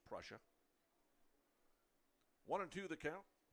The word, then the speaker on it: Prussia: I was pronouncing his name wrong and he pronounces it Prussia. It's spelled P R U S S I A pronounced Prussia.